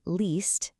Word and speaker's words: liest: In this pattern, the E and the stem stretches out into a long E sound, like E. So ich lese is normal, but then we have du liest and er liest.